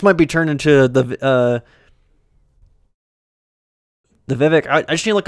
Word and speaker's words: Vivek: Vivek. Cake, like he said. But I don't know if he's memeing. I don't. Fuck it. I could have sworn though I heard it's pronounced Vivek forever, and then all of a sudden, him saying it.